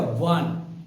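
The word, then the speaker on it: one: तो वन का हम बोलते हैं वन, वन, वन, यानी कि व से शुरू होता है।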